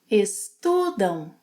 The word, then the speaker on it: estudam: Vocês estudam. They. Eles estudam. Elas estudam. And remember, estudam ends with a nasal sound.